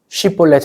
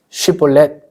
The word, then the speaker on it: 쉽볼렛: 해요 그러자 입다가 꾀를냅니다 쉽볼렛 해 봐 쉽볼렛 그런데 에브라함 사람들이 사투리가 쉬면서 쉽볼렛 발음을 못 하고 쉽볼렛 이럽니다 마치 경상도 사람들에게 쌀 해 보세요 살 쌀 살 이런 느낌이에요 쉽볼렛 해봐 했는데 렛을